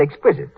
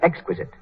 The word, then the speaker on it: exquisite: Mary Jane's mother said exquisite. She should have said exquisite.